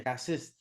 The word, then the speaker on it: raciste: French, in French, you say raciste.